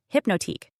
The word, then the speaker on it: Hypnotiq: It's hypnotic, elongated, fluid, and French leaning.